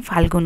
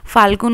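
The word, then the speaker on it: ফল্গু: পড়ে আমরা চলে এসছিলাম ফাল্গুন নদীতে ফাল্গুন নদী না ফুলগু উচ্চারণটা ভুল করে থাকি তো প্লিজ আমাকে একটুখানি কমেন্টে তোমরা ঠিক করে দিও আমাদের সঙ্গে যে পন্ডিত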